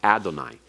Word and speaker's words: Adonai: Don't ever pronounce Yahweh as Yehovah or Jehovah. That is an artificial form that is not to be pronounced. That's to tell you to pronounce it Adonai.